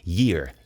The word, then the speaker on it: year: Aí a gente tem esse y antes. A gente dá uma ênfase nele. Year.